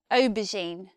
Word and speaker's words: aubergine: England we we say aubergine what stands out about the pronunciation of this word is it has a this is not a very common sound in English it's also in the